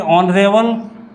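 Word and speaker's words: honourable: ऑनरेबल। तो ये भी हम ऐसे ही लिखेंगे ऑनरेबल। तो ऑनरेबल में पहला जो लेटर है यहाँ पे भी हमारा वॉवेल आ गया।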